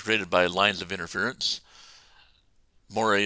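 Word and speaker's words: moiré: by lines of interference Moray is French I believe where is this French word and according to Wikipedia that's how you pronounce it now I'm not an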